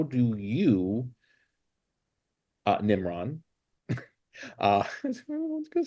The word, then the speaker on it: Nimran: It's so funny because I feel like when I say it properly, then when someone says it back to me, it's almost like they are saying, like NIMRIN.